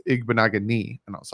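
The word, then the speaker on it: Igbinoghene: says to me like i think i was saying igbo naganei at first and then someone was like no it's igbo nagani and i was like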